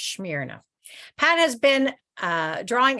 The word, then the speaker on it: Smyrna: I'm saying that right I actually Googled it say how do you say that and I'm pretty sure it's smear enough Pat has been uh